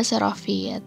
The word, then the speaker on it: xerofit: xerofit ya atau ini xerofit pakai X bacanya xerofit ini adalah contoh adaptasi